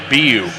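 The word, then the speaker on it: Beu: today oh yeah and it's actually pronounced bu so b-e-u b-u okay so i was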